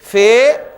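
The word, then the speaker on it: ف: तरह प्रोनाउंस करना है अब हम अरबी लफ्ज में जब बे आएगा तो हम उसे बे नहीं बोलेंगे बल्कि क्या बोलेंगे बा फे आएगा तो हम उसको फा बोलेंगे ये इसलिए जरूरी है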